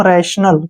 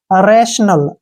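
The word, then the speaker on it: rational: इसको ध्यान से देखिए, आर ए का उच्चारण रे करेंगे, और टी आई ओ का उच्चारण यहाँ पे श हो जाएगा, ध्यान से देखना है। टी आई ओ का उच्चारण श करेंगे, एन का उच्चारण न हो जाएगा, ठीक है, ए एल का उच्चारण ल हो जाएगा। इसको बोलेंगे हम रैशनल, क्या बोलेंगे?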